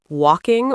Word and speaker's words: walking: In words like walking or talking, the letter L is totally silent. You should only say walking.